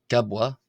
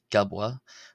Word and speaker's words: ⲕⲁⲃⲃⲁ: Next we have the letter gabwa gabwa. This is like the k sound in the English word ken k. Uh simple k sound.